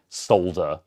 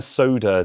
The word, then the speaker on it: solder: drink not as in solder because a lot of you a lot of you monsters also don't pronounce the l in solder and say i'm going to soda this on and i'm